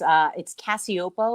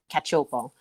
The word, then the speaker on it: Cacioppo: It's Cacioppo, or in Italian it would be pronounced Cacioppo, but excellent. Cacioppo.